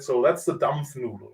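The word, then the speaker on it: Dampfnudel: in Germany right now German special it's called pronunciation first a dump noodle can you say dump noodle dump noodle dump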